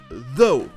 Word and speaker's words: though: Ça se prononce though, qui veut dire cependant. They looked convincing though. Oh yes. Comme vous l'avez entendu, c'est le son O, comme si UGH était muet.